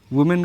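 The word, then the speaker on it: women: में बदल देंगे में का में हो जाएगा वुमेन का वुमेन इसको वीमें पढ़ते हैं ठीक है ना प्रनंसीएशन पे भी ध्यान रखेंगे उच्चारण अच्छा करेंगे लेकिन इसको वुमेन इसको विमेन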